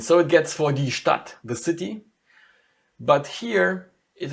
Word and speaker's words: Stadt: But in order to pronounce it, you say it like it's a double T in the end.